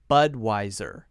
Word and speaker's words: Budweiser: sound at the end Budweiser Budweiser Bud why sir Budweiser notice that we're stressing the first syllable here but wiser now some people will pronounce this with a V sound visor visor but we say the clear W Americans like to use the W sound why like W is